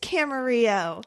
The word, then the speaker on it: Camarillo: I was like, oh, shit, it is Camarillo. Not armadillo. Not armadillo. Texas never pronounces shit correctly. Yeah, and not Camarillo.